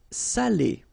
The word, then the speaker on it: salé: So if you don't put the accent, it means dirty, and then you pronounce it sale. But in that case here, okay, you put the accent, and it's quite important because in that case it means salted, okay?